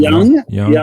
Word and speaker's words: Young: Young, just like a young person.